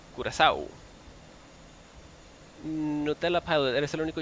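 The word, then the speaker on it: Curaçao: That's pronounced Curacao. Curacao.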